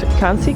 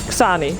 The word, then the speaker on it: Xani: Oh, no one again hoping for that rune, but Kansi got it first. Xani. I keep saying his name wrong.